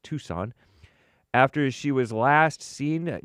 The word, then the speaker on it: Tucson: It looks like Tuxen, but it's pronounced Tucson.